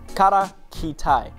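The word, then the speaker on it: Kara Khitai: Now with a state in Central Asia, and pronunciation alert, they were known as the Kara Kitai, Black Ketons in the local Turkish.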